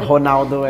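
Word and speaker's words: Ronaldo: can't even get after honalo and honalo the names like mostly r r so when it is at the end it's more like an R something yeah in Turkey rialo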